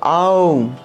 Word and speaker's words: ওম: ওম উচ্চারণটা হবে ওম, তাহলে ওম নম ভগবতে পঞ্চবদনায় পূর্বা, ঠিক আছে?